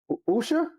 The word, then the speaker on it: Usha: But her name is uh Usha. Is that how you pronounce it? Usha. Is it Usha? Yeah. You ask. Yeah. Usha.